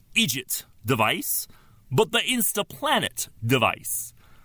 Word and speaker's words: IDGT: Only this time, it isn't the IDGT, pronounced Egypt device, but the Instaplanet device.